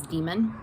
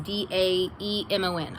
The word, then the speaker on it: daemon: I know the actual pronunciation is demon. The spelling is D-A-E-M-O-N. I know that it's actually supposed to be pronounced demon.